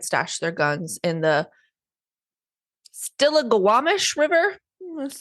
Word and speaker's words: Stillaguamish: Michelle also led police to where they had stashed their guns in the Stillaguamish River.